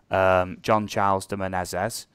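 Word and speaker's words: Jean Charles de Menezes: John Charles de Silva y de Menezes, pronounced John Charles de Menezes.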